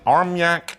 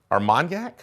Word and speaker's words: armagnac: tell me just straight bourbon whiskey finished in arm yak ar armagnac it's pronounced aaron you done messed up hey ron